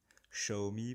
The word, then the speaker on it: Xiaomi: présenter la domotique selon xao me xiaomi pour ceux qui veulent prononcé à la chinoise moi je dirais xao me vouvoyer devant moi donc